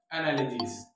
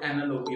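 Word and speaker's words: analogy: एनालॉजी और एनालॉजीज इसका जमा है एनालॉजीज। जैसा कि मैं आपको बता रहा था कि बाज लोग इसको एनालॉजी भी पढ़ते हैं और एनालॉगी भी पढ़ते हैं, जबकि इसकी असल प्रोनाउंसिएशन है एनालॉजी।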